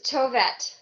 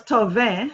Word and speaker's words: Tovette: It's Tovette. It's a Tov. French name. I'm Yes, from Canada. I thought it was Tove. So I said, Tovette, yeah. yes, it's Tovette as I see it spelled here.